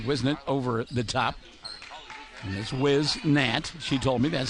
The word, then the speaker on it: Whisnant: the near side Whisnant over the top his whiz NAT she told me that's how to say it